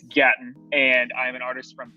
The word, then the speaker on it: Gatton: So my name is Gatton, which the easiest way that I can explain how to pronounce that is Latin with the G, because everyone gets it wrong. People are always like, Gatlin, I get anything with the G. But it's Gatton, and I'm an artist from Tampa, Florida.